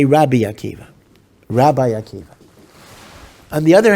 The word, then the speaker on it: Rabbi Akiva: Rabbi Rabbi Akiva or some say although we don't pronounce it this way that the correct vocalization is ribi Akiva okay don't say it